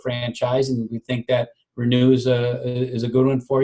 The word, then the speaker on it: Renue: can certainly go to our website which is renew systems comm we're new is spelled our and Yui so that's our e